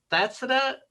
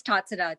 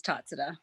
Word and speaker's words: Tatsada: I'm hoping to say Thatsada. Is it Thatsada? Am I saying your name correctly? So it's Tatsada, Jim. It's Tatsada. Tatsada. Okay. Yeah, the H is silent, so it gets everybody.